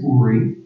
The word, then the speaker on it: Uri: But first, let me just say, my name is Uri. It's spelled U-R-I.